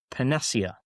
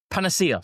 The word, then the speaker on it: panacea: The word is panacia panacea sorry panacea for god's sake.